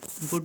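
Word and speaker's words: would: वुड में L silent है इसलिए वुड पर बना देंगे।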